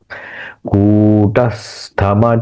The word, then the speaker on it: कूटस्थ: कूटस्थम चलन ध्रुवम कूटस्थ कू का उच्चारण दीर्घ ही करना चाहिए।